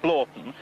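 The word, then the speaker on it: Hornblotton: One of the things that convinced me most was her pronunciation of Hornblotten as Blorton, but I happen to know that that is the form of pronunciation, and I happen to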